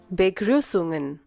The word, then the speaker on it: Begrüßungen: Ingat U dan umlaut titik 2 itu diucapkan seperti mengucapkan seolah-olah mengucapkan huruf I, tapi yang kita ucapkan U, begrü, yang seperti huruf B.